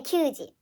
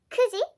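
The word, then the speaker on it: 九時: is usually nine but when you wanna say nine o'clock then you have to say kudi you don't say kyuuji kusi kuji hang half past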